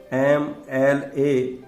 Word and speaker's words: MLA: MLA singular है, pronunciation MLA ए से शुरू हो रहा है, वोवल से शुरू हो रहा है, तो यहां पर आर्टिकल आएगा एन।